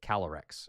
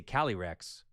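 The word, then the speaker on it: Calyrex: You can't say kalrex. It's like calorex like there's a little l in there or something.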